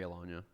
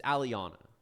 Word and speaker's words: Aliana: Yeah, I agree, Alanya. Aliana. I got to figure out how to pronounce it. It's Aliana.